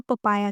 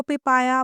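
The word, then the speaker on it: papaya: Melon और पपीते को हम इंग्लिश में पपाया कहते हैं। पपाया इसको पिपाया पपोया नहीं पढ़ना पपाया पढ़ना है।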